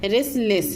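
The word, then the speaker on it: restless: Sorry, यहाँ टी जो है साइलेंट है, रेस्टलेस है।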